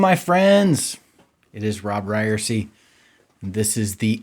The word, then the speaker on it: Ryerse: And remember that Robb has two B's, just like it's pronounced Ryerse is pronounced Ryerse.